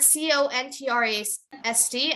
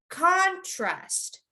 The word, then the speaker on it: contrast: emphasize or you have to make sure it's pronounced better so the word c-o-n-t-r-a-s-t as a noun you would say contrast contrast but if it's a verb then you would